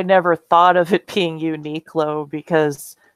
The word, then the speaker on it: Uniqlo: that the brand name, I was calling it Uniqlo originally. Apparently most people say Uniqlo. But then I found a YouTube video about how Japanese people say it, and it's more like Uniqlo. Uniqlo. Yeah. I was repeating it over and over and over again, trying to get it. I don't think I came close. Yeah. But Uniqlo. Yeah, it's almost like it ends in URO.